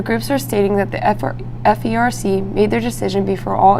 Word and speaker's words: FERC: The FERC?